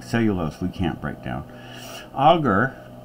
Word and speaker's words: agar: we can't break down auger now some say agar I was in many labs and everybody I know pronounced enunciates it as auger so anyhow I guess